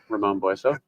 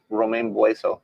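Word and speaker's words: Ramón Bueso: Ramon Bueso. Ramon. Ramon Bueso. Bueso. I've been saying Romaine Bueso Romaine Bueso. for The salad company.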